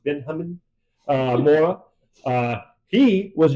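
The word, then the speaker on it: Benjamín: So, they are coached by Benjamin, I think it's actually pronounced Benhamin uh, Mora.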